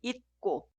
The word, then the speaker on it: 있고: Por eso, la primera frase se escribe así, pero suena 있고, 있고.